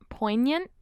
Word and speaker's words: poignant: that p word point poignant yeah just take out the things i feel like a word the g is silent poignant oh my god okay